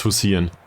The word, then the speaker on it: Hussein: It's Hussein. Well. Back in Indonesia I mispronounced Imbiri for like half a season, so...